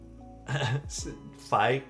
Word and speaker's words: Phi: So, the 565 um fi rhymes with fry a little bit.